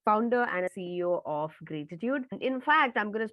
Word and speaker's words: Graytitude: And interesting about Graytitude, a lot of people either mispronounce it as gratitude or they say, what is Graytitude?